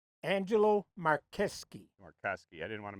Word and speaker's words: Marcheschi: all Mares over there a lot of people say that sounds more polish than Italian but it's spelled Chi not sky so what